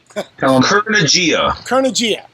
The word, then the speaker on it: Kurnugia: I can't pronounce it right, so you give me the pronunciation. Kurnugia.